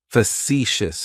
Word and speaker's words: facetious: That first syllable has that schwa, that sound. Facetious, facetious.